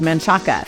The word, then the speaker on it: Manchaca: Another one is Manchaca, which we all know has an A at the end, but they pronounce it Manchac.